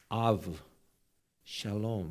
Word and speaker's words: 압살롬: 아들 이름이 압살롬이잖아요 워낙 압살롬 발음을 정확하게 해야 되는데요 압살롬하면 왠지 좀 뉘앙스가 좋지 않아요 근데 이게 아부 샬롬 이거예요 압살롬이 막 그냥 이게 아니라